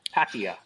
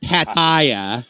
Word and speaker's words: Pattaya: how to say it so it's pakia ah it's a it's a soft a at the beginning not Pattaya no no no no